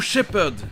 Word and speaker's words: shepherd: ou "shepherd" qui vient du mot "herd", un troupeau. Mais là... le "h" ne sera pas prononcé.